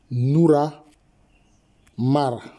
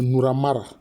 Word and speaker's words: Narmer: l'interprétation que je donne prononcer ça ça devait être quoi ? Noura Mara. C'est Noura Mara. C'est Noura Mara. C'est comme ça.